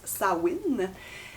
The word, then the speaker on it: Samhain: qui se en fait qui se prononce sawin sawin c'est la première fête